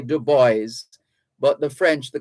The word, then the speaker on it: Du Bois: author and editor w.e.b dubois in america's in america they say du bois but the french the correct pronunciation is dubois it's a french name w e b dubois